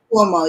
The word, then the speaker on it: Cuomo: Cuomo, is that how you pronounce his name? Cuomo. I think he the governor. Cuomo, yes.